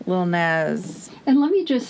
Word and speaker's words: Lil Nas: said that i haven't i thought it was nast because of nasty but still more of a z little nas and let me just